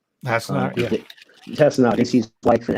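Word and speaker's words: Hassenauer: Did I pronounce that right? Hasselmeyer, yeah.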